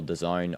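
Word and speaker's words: DAZN: Dazzen. Uh it's well it's actually pronounced as well the zone. I I just pronounce it dazzen.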